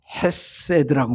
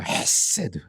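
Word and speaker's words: חסד: 여기서 인해란 말이 히브리에 매우 독특한 단어로 쓰여져 있어요.이 단어를 헤세드라고 말합니다. 헤세드. 이게 가래가 끌어나오는 그런 발음이에요. 헤세드.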